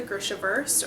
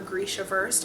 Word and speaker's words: Grishaverse: So within this world, there are the Grisha, which is part of the Grishaverse, or Grishaverse, however you want to pronounce it.